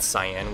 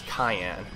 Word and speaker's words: cyan: i was a kid i didn't know how uh the word cyan was meant to be pronounced i always thought it was cayenne like the cayenne pepper i guess i think